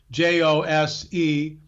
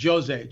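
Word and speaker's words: José: and by the way, it's spelled Jose like Spanish-speaking people would pronounce it, Jose, but in Portuguese it's pronounced Jose.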